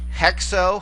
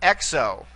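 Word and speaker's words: ἕξω: few more this is hex oh heck so notice here it starts in a vowel in this case you have a rough breathing mark hex oh not EXO all right and this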